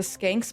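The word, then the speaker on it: Schenck: That's how it's said, but it's not how it's spelled. How's it spelled? Kind of like shank, but I looked up the pronunciation of it and it was skank.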